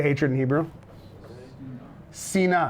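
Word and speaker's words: שנאה: Sina. How do you spell sina? It's a tricky one. We'll say si-na. Not shena, sina. Oh, I'm sorry, what's the aleph, right? Sina.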